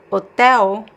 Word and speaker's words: hotel: But then if I have the L at the end of a word like hotel, the L is pronounced as a weak U sound.